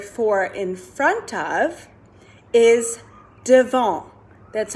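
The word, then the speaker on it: devant: the french word for in front of is devon that's how you say it spelled like devonte but we say devon good job our next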